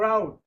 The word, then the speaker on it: route: They have the same sound except for route. It is pronounced route. Options is pronounced route not root.